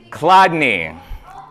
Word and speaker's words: Chladni: How do you think this is pronounced? This is better. Chladni.